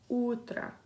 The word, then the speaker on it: утро: So as in the word утро. And you'll see the O at the end of the word is pronounced as an A because of vowel reduction. The stress is on the U.